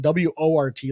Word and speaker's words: wort: juice is called wort which is actually spelled w-o-r-t like wart oh but it's pronounced wort well i'm going to call it